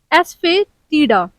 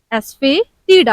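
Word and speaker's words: asafoetida: आपके सामने है हींग हींग को मोस्ट ऑफ द लोग मोस्ट ऑफ द पीपल गलत प्रोनाउंस करते हैं इसका सही प्रोनाउंस एशन है एस फे डा एस फे डा आप इसको मेरे साथ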